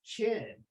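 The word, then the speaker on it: Qin: way that we spell this but it's still pronounced chin and this is the guy for whom this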